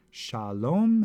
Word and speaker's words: Shalom: here it is written Shalom has two consonants or two two syllables the first syllable sha is open it ends in a vowel the second syllable lomé is closed because it ends with a consonant let's look at another